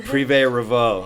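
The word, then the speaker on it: Privé Revaux: right yeah jamie will be pissed if i pronounced it wrong prive revo okay it's so funny because everyone's like how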